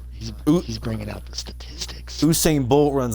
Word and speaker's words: Usain: Usain Bolt runs like 28 miles per hour with pads off.